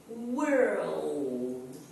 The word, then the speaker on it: world: If you separate the word, first you pronounce were, and after you pronounce old. Were, old, world. Okay, you have to pronounce the two letters.